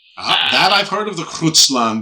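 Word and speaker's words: Grootslang: That I've heard of the Grutslang because it's spelled like Grutsland, right? Like a very Dutch two O's with those vowels over the O's and things like that.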